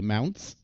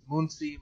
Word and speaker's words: Mounts: I say this correctly mounts yes excellent do people get your last name wrong it seems pretty easy oh it's deceptively easy but people try all sorts of things Muncie Muncie the short story behind